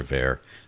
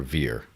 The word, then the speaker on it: Ver: Anyone ever ask Roger how he pronounces his last name? It's kind of funny because everyone calls him Roger Ver. It is Roger Veer, but when you asked about it, he says, well, it's Roger Veer, but people say Ver for so long that